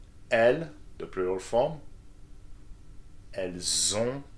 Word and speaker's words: elles ont: Elles ont, that's correct, the the sound and the nasal sound, okay. Zon, elles ont.